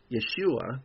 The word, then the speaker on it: Yeshua: distinctiveness of their people Jesus Yeshua as they pronounced it meant salvation it